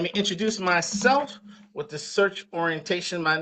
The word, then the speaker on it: Shurch: I am the founder of search uh like it's pronounced like s e a r c because I believe we're all searching for something right searching for love